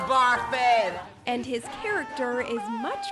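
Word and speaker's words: Barfée: It's pronounced Barfy.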